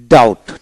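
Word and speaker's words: doubt: হবে না ডেট মানে ঋণ তারপর ডি ইউটি ডাউট ডাউট আইপিটা হল ডি ইউটি ডাউট তারপরে ইনডটি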